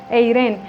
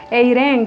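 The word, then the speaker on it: εἰρήνη: En griego más o menos así se pronuncia, eiren, y esto significa sano, significa buena salud.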